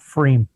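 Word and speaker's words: pFriem: of Hood River Oregon called free spelled with a p f the frame um but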